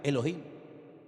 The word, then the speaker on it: Elohim: desde el principio es un nombre que se pronuncia Elohim Y quién es ese Elohim porque ese nombre